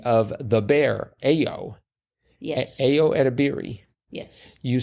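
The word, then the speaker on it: Ayo Edebiri: the actress edir of the bear AO yes AO edir yes you say that like you know Ao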